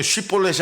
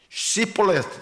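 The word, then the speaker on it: שִׁבֹּלֶת: 벌렛 해보라니까이 사람들은 발음이 어떻게 쉬볼렛이 안 되고 시볼렛 이렇게 발음이 되는 거예요.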